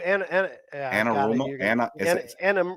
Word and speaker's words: Anarumo: That's why I will not completely discount them going back to Spags or I can't pronounce his name. Is it Anarumo? Lou Anarumo.